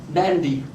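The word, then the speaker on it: Nadi: In the Fijian Islands, the airport that I've gone into always is Nandi, and the Melanesian natives, the natives of the west of the Pacific, they nasalise D's and G's.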